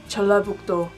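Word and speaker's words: 전라북도: Located below the Chungcheong provinces is the North Jeolla Province, Jeollabuk-do. Separately, the characters are pronounced as Chon, La, Buk, Do, but together it's Jeollabuk-do, Jeollabuk-do. The capital of the North Jeolla Province is Jeonju, Jeonju, Jeonju.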